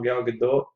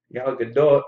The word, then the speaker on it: Gal Gadot: Gal Gadot. Gal Gadot is actually how you pronounce it, but I won't say Gal Gadot.